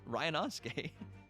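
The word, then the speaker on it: Ryunosuke: That's how you say his name. It's Ryanosuke.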